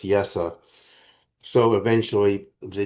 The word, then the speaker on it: Yeshua: Some people pronounce it Yeshua, but the vowel schwa is pronounced so it's Yesa.